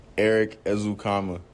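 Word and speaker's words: Ezukanma: his name is pronounced Eric ezukama azukama Eric ezukama so it is comma so people there's no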